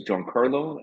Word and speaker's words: Giancarlo: your name sure uh my name is John Carlo and last name is so it's actually just pronounced John like John Carlo is that right yeah